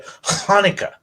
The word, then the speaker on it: Hanukkah: So, in it, so like, if you're going to say Hanukkah, right, it's actually a Hanukkah.